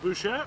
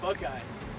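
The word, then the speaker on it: Buchheit: Yeah, I used to call it Bouchette, but I guess it's called Buckeye.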